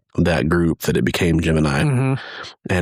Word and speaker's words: Gemini: It's like it's going to evolve from the original Jiminy into Gemini.